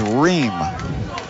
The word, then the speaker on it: Reed: I think they pronounced the name as Reem, which is fine with me.